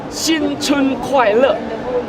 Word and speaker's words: 新春快乐: 新春快乐 1, 2, 3.